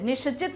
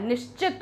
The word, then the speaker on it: निश्चित: फिर है निश्चित, क्या है निश्चित, निश्चित नहीं होता है निश्चित होता है, श आधा होता है, यहां पर आप ये